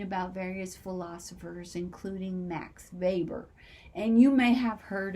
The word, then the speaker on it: Weber: know that um his last name which is spelled like weber was actually weber i didn't know that's how you pronounce it